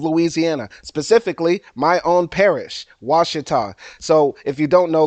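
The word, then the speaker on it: Ouachita: and I hail from Wasa Parish some people read it and see oh you a cheah but no that's not how it's pronounced it's pronounced was named after the indigenous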